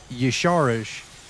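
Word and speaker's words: Y'Shaarj: I I was saying his name wrong. So, it's Yeshu.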